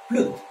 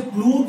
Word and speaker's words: प्लुत: तीसरा प्लुत, इसे प्लूत नहीं कहेंगे, प्लुत।